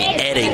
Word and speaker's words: Eddings: Number 2, Nicholas Eadings. So he's the head coach, Coach Henson, is going to try to. It would be Eddings, excuse me. I'm looking over now over at the pronunciation. Yeah, Eddings.